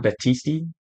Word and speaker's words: Battisti: John Battisti. Sounds like the wrestler John Batista, but it's not John Batista.